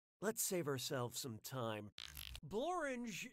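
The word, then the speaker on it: Blorenge: save ourselves some time borange is a real place and it really rhymes with orange but if you visit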